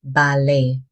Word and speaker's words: ballet: This word comes from French. So the t at the end is silent. is pronounced ballet, not ballet.